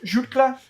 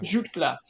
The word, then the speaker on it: Jutglà: Jutglà. So, yeah. Jutglà.